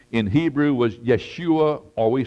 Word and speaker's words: Yeshua: win the argument Jesus name in Hebrew was Yeshua or we sound we pronounce it Joshua uh it meant savior Joshua means savior Yeshua